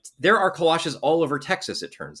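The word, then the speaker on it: kolache: And so now like one of like there are kalashes all over Texas. It turns out there's all these bakeries that specialize them. But they call them kalachis. Kalachis. Yes. Yeah. They do not say it right.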